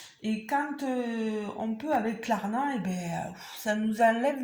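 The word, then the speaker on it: Klarna: c'est comme ça et quand on peut avec clarna et ben ça nous enlève une épine du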